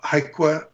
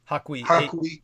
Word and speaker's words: Hakui: And that goes into the, how do you say, the Haiku Museum? Hakui.